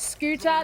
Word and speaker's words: Scyther: I also just want to point out, you may have noticed you correcting yourself to referring to Scyther as Scooter. That's how it's pronounced Yes. in Russian.